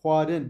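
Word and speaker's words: xwarin: Huarın yemek demek. Huarın. Bakın karın değil. X ile yazarsak karın olur okunuşu. Ama X dediğim H harfi. X ve V yani H ile V ile seslendirirsek huarın bakın. H gırtlaktan çıkıyor. V de ağızdan. Huarın. Huandın okumak. Huandın. Gırtlaktan ve ağızdan birleşimiyle beraber huandın.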